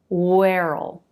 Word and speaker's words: where'll: Where'll.